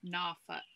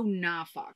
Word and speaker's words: Norfolk: Norfolk. Oh, Norfolk. Norfolk. Norfolk. Norfolk. We were saying Norfolk, but yeah, we were quickly corrected. We were pronouncing all the letters.